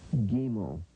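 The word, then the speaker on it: ג: G sound as in gold and gum.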